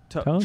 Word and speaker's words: Toews: Taves, I think, is this year. They got lots of good hockey left in. Yeah. I believe it's pronounced Toes.